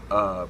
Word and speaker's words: Dunga: I threw in Dunga, as it's pronounced. There's a lot of different pronunciations of the dude's name. I call him Dunga.